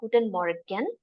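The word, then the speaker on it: Guten Morgen: and Moran F via you can also say it as Gooden Moran but then when you when you speak German in fast in a fast fashion or like in a in a quick fashion some of the letters are reduced so you will not hear it as G Mor you'll see Mor there's a two there's a lot of reduction in German this is what I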